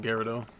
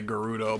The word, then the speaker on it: Gerudo: Gyarado. I know some people say Gerudo, but I I guess it's like it's a tomato tomato kind of thing.